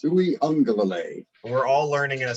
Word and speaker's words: Uiagalelei: The Hawaiian name, and that AG right there is pronounced as an ing sound. So it's Uiagalelei.